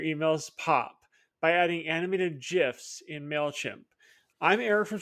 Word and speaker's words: GIF: how to insert animated GIFs directly from Giphy using Mailchimp's tools. Let's get into it. GIFs are a fantastic way to grab attention in your emails. And yes, it's pronounced GIF. Come at me.